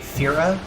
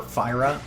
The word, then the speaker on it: Fira: Here in this room, there is a Fira chest, or Fyra, depending on how you prefer to pronounce it.